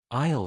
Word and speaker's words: aisle: Isle seat. Remember the S is silent.